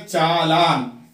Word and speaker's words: challan: अब इसी तरह से चालान, CHALLAN चालान कि यहाँ पर एक L जो है साइलेंट है तो साइलेंट लेटर है यहाँ पर चालान।